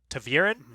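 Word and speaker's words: ta'veren: It's like he's such a strong Taveren.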